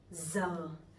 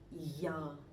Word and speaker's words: giờ: So I'm from the north, I'm from Hanoi, so my pronunciation would be giờ. But people from the sound, they would pronounce a little bit differently. They would say ya, ya, something like that.